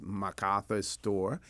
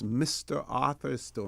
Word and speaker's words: Mr. Arthur's Store: I think I may have heard someone pronounce it as MacArthur's store. It is Mr. Arthur's store, Mr. Arthur Borden's store.